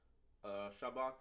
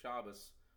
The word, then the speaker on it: Shabbat: to set up a Shabbat night. In Ashkenazi they say Shabbos, whatever you name it, but I use the Sephardic pronunciation, like Shabbat night.